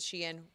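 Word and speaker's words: Shein: Bam I know so the um the company Sheen and some people pronounce it Sheen whatever side of the camp you fall on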